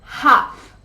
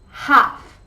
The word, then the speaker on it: half: should should you should study more number seven half half the class starts at half past seven and